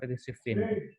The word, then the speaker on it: Siffin: Ya, bacanya Siffin ya, bukan Sofain ya.